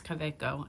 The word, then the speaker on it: Kaweco: It's Kaweco. And I did not pay attention to the fact that it's German.